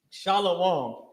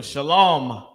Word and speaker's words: shalom: just the it's just the ma is not pronounced heavily because of how you say how we speak how you how we say our words so shalom the oppressor also knows